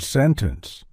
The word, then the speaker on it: sentence: Many people have asked me about the pronunciation of the word sentence. Should it sound like sentence or sentence? Most commonly, I pronounce it as sentence.